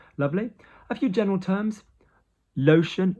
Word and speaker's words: lotion: Lotion, lotion, T-I-O becomes an S.